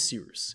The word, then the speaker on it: Cyrus: My name is Cyrus. It's spelled like Cyrus, pronounced like Sea Rooster, just take out the ter.